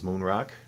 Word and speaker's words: Moen Rocks: my good friend Jacob whose channel is Moonrock even though it's spelled mo en so he is running